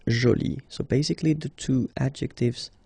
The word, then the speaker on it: jolie: get Jolie okay so you can see that you put this but then you don't pronounce it okay so it's Jolie so basically the two